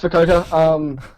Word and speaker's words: Fukuoka: How do you say it? Fukuoka? I thought it was Fukuoka. Fukuoka. That sounds pretty cool, but nah, it's Fukuoka.